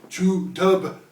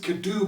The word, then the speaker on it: Cu Dhub: one could do well it says true dub on the on the label but you pronounce it kadu because it is it is gaelic for a while for a white what am i saying it is gaelic for black dogs the black dogs are